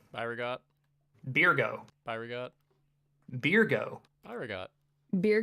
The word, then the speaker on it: Byregot: Now, Birgo, which is actually how you really say his name. Byregot.